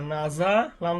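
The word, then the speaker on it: نَزَلَ: যেমন এখানে একটা শব্দ হয়ে গেছে, কাপ জবর কা, তা জবর তা, বা জবর বা, কাতাবা, নুন জবর না, ঝা জবর যা, নাজা, লাম জবর লা, নাজালা, র জবর র, ফা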